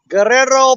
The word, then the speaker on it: Guerrero: Hey, Guerrero. You got to roll your R's, buddy.